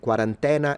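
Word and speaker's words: quarantena: it, but then again, I would say quarant quarantina. That's how you say it in modern Italian. So, instead of an I, I would put an E and then an A at the end.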